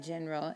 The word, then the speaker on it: general: And how do you say general or generally in general in Spanish? It's en general. Remember that G, when it's followed by an E, makes the H sound.